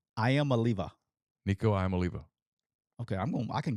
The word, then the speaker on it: Iamaleava: Can you pronounce that one more time for me? Nico Iamaleava. Iamaleava.